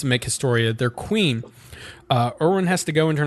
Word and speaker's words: Erwin: Oh, with Erwin, right? Yeah. You pronounce it like Eren, so that could Erwin.